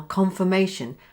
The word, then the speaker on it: confirmation: Did you notice here how confirmation has two schwas?